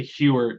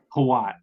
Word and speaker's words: Hawat: I wanted to say Hewert, but I was like, there's no way it's Hewert. Hawat? Hawat, yeah.